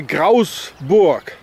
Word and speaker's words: Grasburg: German or Swiss German, they don't pronounce the L. So the word Graalsburg, Grasburg, or Graalsburg as it used to be in German, would be pronounced here Grausburg, because they don't say the L.